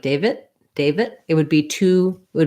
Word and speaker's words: David: holding that vowel longer so even if i'm not saying a clear d david with a released sound david david i'm holding that longer and your ear your brain will hear it as a d so what might be